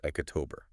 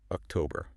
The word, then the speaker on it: October: And it is not October. It is October. Ah, so the power, the weight of the word is right there in the middle. Exactly. It's that middle syllable. October. Try saying it. October. Yeah, I can feel it. It sort of goes up and then comes back down.